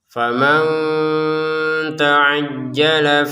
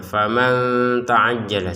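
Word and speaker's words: فمن تعجل: Faman di sini perhatikan nun sukun bertemu ta, maka kita harus membacanya dengan samar ya. Faman ta'ajjala seperti itu. Jangan faman ta'ajjala. Ya, faman ta'ajjala itu dengan jelas, harus dengan samar.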